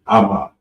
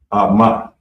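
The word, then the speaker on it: אמא: And it's Ama. Ama.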